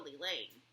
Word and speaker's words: Elaine: I can handle Elaine. Rhymes with pain.